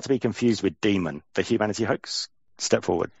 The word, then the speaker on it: daemon: pronounce it in greek it's pronounced demon there's um a greek